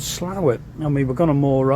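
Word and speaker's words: Slaithwaite: but dropping into slower it's spelled differently but it's called slower I mean we're gonna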